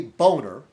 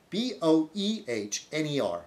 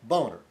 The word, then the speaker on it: Boehner: Boehner, Republican of Ohio. See, okay, his name clearly looks like Boehner, okay? B-O-H, capital B-O-H-E-H, B-O-E-H-N-E-R, Boehner.